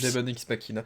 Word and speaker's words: Demon X Machina: Demon X Machina. Là, vous allez voir, non mais le X, il faut pas le prononcer.